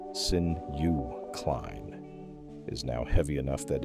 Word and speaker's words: synuclein: disease, amyloid beta, tau, alpha-synuclein, pronounced sin-u-cline, is now heavy enough that it is no longer a hypothesis in neurology textbooks.